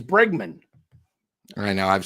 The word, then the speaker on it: Bregman: he didn't sign yet what it's bre it's bregman I know I've said it wrong since day